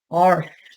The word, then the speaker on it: Irish: The word Irish is going to be pronounced arsh. There's an arshman. Give me an arsh potato.